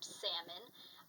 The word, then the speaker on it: salmon: of spelling the word salmon I think salmon because that's how it's spelt there's an L in there that you don't really pronounce so when it goes